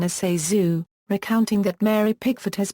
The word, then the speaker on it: ZaSu: Although the name is commonly mispronounced Zazu or Zaysu, or Zayzu, in her 1963 book Candy Hits, Pitts herself gives the correct pronunciation as Zazu, recounting that Mary Pickford has predicted, any will